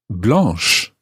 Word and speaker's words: blanche: and then the example where it does change the sound finally we had the example where an extra letter was added blah b-l-a-n-c blanche b-l-a-n-c-h-e so an libra